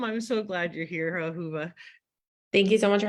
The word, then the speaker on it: Ahuva: big name to try and remember how to pronounce welcome today ahuva exactly is that correct okay look at you